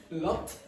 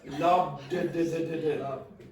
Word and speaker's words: lobbed: 3, 2, 1, lopped. No, it's not lopped, it's lobbed.